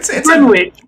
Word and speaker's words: Greenwich: Like you know it's not pronounced like it's spelled, but you Maybe that's also the way it's pronounced in King James.